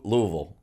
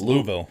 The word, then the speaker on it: Louisville: you know that you they don't say lewisville no louisville it's all you almost don't even have the e sound it's just louisville louisville louisville it's almost yeah two